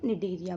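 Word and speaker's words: Cnidaria: बोल सकते हैं, फाइलम निडेरिया बोल सकते हैं। सी साइलेंट रहेगा यहाँ पे, ठीक है, क्योंकि इनके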